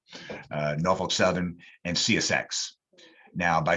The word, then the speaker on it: Norfolk: used to live there that is the correct pronunciation it's norfolk norfolk southern and csx now by sheer tonnage the